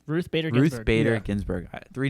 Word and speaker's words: Ruth Bader Ginsburg: Ruth Bader Ginsburg.